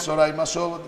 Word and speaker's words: Zoraima Schotburt: Soraima Sobot, yo lo leo como se escribe, pero es Soraima Sobot, gracias, que es la encargada del área de toxicología del Hospital Pediátrico, doctor Agustín Zubillaga.